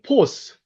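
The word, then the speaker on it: φῶς: 그 다음에 하나님은 어떻게 발음합니까? 헬라어? 하나님. 데오스. 데오스. 그 다음에 빛은요? 헬라어 시간이네요. 포스.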